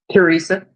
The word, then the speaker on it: Theresa: Teresa. Theresa. Where I get okay. Miss Teresa, what's going on in your spiritual journey, dear? It said the H is silent, but I'm not.